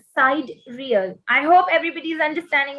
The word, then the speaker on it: sidereal: Okay, उनसे जो related चीजें होती हैं उनको sidereal कहते हैं.